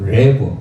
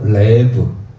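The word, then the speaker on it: לב: 여기 써놨는데 레브, 이거 라메선 리을 발음, 리을 소리예요. 리을. 그리고 째레, 에 소리입니다. 그리고 베이트 했잖아. 부. 그래서 레브. 레브가 뭐예요?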